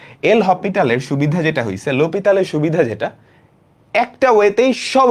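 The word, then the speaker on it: L'Hôpital: আর limit সমাধানের আরেকটা উপায় আছে, যেটা হচ্ছে আমাদের আজকেরটা, এল হপিটাল। লা হসপিটাল, এল হপিটাল, লোপিতাল। আসল উচ্চারণ হচ্ছে লোপিতাল। এল হপি, এইচটা উচ্চারিত হয় না।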